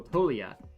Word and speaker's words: Toglia: That's how it's pronounced, Michael Toglia, to hit a home run.